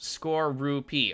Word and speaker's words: Skorupi: It's pronounced Skorupi.